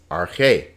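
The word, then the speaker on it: ἀρχή: the word are k notice this alpha has a smooth breathing mark it's not pronounced so this is just arche another smooth breathing mark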